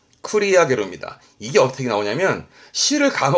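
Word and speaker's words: 繰り上げる: 발음은 쿠리야게르입니다.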